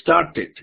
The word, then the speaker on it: started: Si el verbo termina en T o en la letra D y le agrego ed, cuando lo pronuncie, voy a pronunciar la T o la D, si es el caso en un verbo con D, y ed. Entonces ya no digo I start, sino I started, I started. listo, ese sí se pronuncia TED o DET, started, listo, I started the school in 1995.